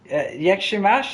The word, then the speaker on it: Jak się masz: Jak się masz is how are you, isn't it?